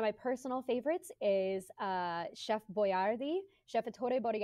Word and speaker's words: Boyardee: pronounce Italian correctly so he had to write it out phonetically how to pronounce Boyer thee boy d chef boyardee was written out because dumb